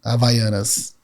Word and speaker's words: Havaianas: Havaianas. There's no H.